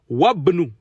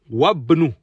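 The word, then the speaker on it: وابن: Wabnu. Wabnu. On passe du waw au bas direct. Le alif, le hamzatul wasl, il est là, mais ne se prononce pas.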